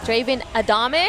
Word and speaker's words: Draven Adame: We are here to chat with Draven Adame.